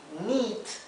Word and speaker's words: neat: Bien, dijimos que knit era tejer y neat, con la I larga, neat significa prolijo o aseado, ¿sí?